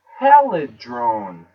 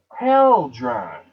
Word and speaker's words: Hadron: I used to know that because in my mind I used to say Helidrone, like Helidrone, Helidome, Helidon, Hadron Collider, right? Hadron. Now it's Hadron.